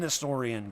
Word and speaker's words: historian: And no, it's not a historian. It's an historian, guys. Jeez Louise. The H is silent.